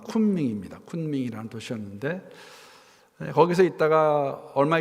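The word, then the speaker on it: 昆明: 그 곤명이라는 도시는 중국 발음은 쿤밍입니다.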